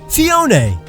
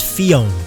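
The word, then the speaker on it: Phione: Fione. Not Fione. It's based on the Cleone, so its pronunciation is justified.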